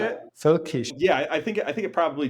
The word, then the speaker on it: völkisch: Völkisch.